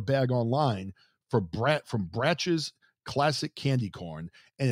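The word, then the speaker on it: Brach's: actually order a bag online for brat from bratch's classic candy corn and it's spelled b-r-a-c-h apostrophe so if you're looking to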